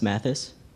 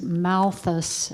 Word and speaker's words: Malthus: that's not correct time the answer is Malthus and you said Mathis the first time then Malthus and then